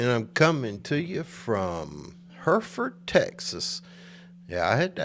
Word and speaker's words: Hereford: I said, how do you say the name of your local town? I said, is it Hereford? Hereford? But they straightened me out. It's Hereford.